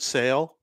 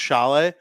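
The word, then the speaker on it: Šalé: Well, that's kind of just like the way Czechs pronounce things.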